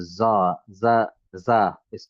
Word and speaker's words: زاي: is called za and zain and zai. There's three different pronunciation for the same letter. The letter name is Zai, as Zai. Zai, okay. Yeah, there is no zeen in Arabic, no.